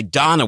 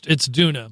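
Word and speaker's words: Doona: A popular baby car seat made by Donna, which purchased for $200 less than the original. It's Duna. Duna? Yeah. Oh, that's like how they say my name in Boston. It's Duna.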